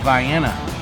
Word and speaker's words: Vienna: through vienna yeah that's how you say it vienna supposedly it's the bicycle capital of illinois where